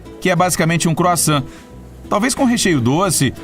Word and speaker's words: croissant: Lá existe uma enorme variedade deles, incluindo aquela delícia chamada croissant, que quase todo mundo não sabe pronunciar direito. E aí, consegui? Talvez eu deva usar um sotaque francês.